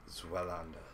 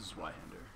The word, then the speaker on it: Zweihander: Zwelanda. Did I pronounce that right? It is Zweihander. Zweihander. It's literally German for two.